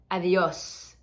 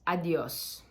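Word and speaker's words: adiós: is hola and then adios We're not gonna get too complicated here it's almost like a light th the the like they avios if you want to think of it like that it'll be great but just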